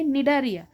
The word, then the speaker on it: Cnidaria: दुसरच नाव काय आहे निडारिया निडारियाच spelling बघा सी वरून चालू येत सी सायलेंट आहे आणि निडारिया वरून ते स्टार्ट होतं मग आपल्याला त्याची सममिती